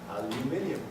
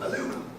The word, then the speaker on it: aluminum: Aluminum, no, aluminium, no, aluminum. You have to say aluminum.